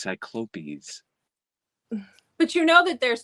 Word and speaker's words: Cyclopes: We did Cyclops, and it was Cyclopes. Oh, like, what the fuck are you talking about? Cyclops. Cyclopes. And I was like, I don't know where that comes from, but that was direct from the author.